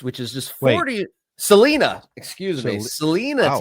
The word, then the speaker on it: Celina: Celina, Texas. It's Celina, everything. Texas. Is everything the opposite pronunciation? You're talking, giving me crap about Spokane, Yeah, but it's now not we got Spokane, and it's not Celina, it's Celina.